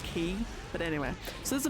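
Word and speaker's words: χ: like like the weird Latin X which is pronounced key but anyway so there's a mega keyblade called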